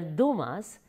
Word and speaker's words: Dumas: French authors in history Alexandre Dumas in French actually it is pronounced as Duma so from now onwards